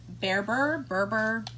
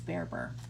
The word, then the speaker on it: Berber: Concept Collection by, and it is Berber, depends how you say it. I think she says Bereber.